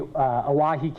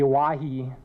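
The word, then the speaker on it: Owyhee: The origin of the name, the Oahe, is actually a mispronunciation of Hawaii. The canyon is named after some trappers who were with Peter Skeen Ogden. They were lost in the Oahe Canyonlands, and they were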